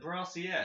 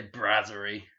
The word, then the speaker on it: Brasserie: Is it Brassiere? Let's find out. Nah, I say Brasserie.